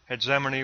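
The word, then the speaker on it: hegemony: G as DZ heane I'm going to use the G as a DZ and use that pronunciation so Black 2 is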